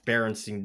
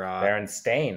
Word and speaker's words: Berenstain: How do you pronounce Berenstein Bear or Berenstein or whatever? Berenstain.